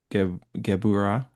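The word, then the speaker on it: Gevurah: The the raw power of gabura.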